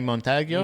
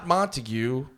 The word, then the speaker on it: Montague: Remember we did that episode forever ago with Johnny Montague? Not Montague, Montag. Spelled Montague. Spelled beautiful in Spanish. Yeah, pronounced ugly as hell. Pronounced honked up. John Montag. Montag.